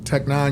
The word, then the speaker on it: Tech N9ne: Uh, Tech 9, you spell it T E C H N E. Number nine ne. It takes the place of the I.